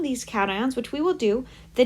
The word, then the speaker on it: cation: want you to look it's a cat ion like a kitty cat this is not pronounced